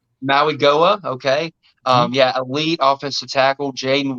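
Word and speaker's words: Mauigoa: I mean, you got Francis Magua. I probably butchered that last name. Francis Maui-Goa. Maui-Goa, okay.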